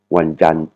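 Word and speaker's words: วันจันทร์: Le T entre parenthèses en fait pour prononcer, il faut il faut faire comme si vous allez dire Wan Jan mais vous vous arrêtez juste avant de dire le te. Donc ça va faire ce son Wanan Wanan mardi wanan hein.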